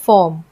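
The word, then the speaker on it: form: लेकिन अगर आर के पहले स्वर होता है यानी वोवेल होता है और आर के जस्ट बाद कोई व्यंजन होता है तो आर वहां पे साइलेंट हो जाता है। जैसे यहां पे आपको एग्जांपल दिया गया है फॉर्म।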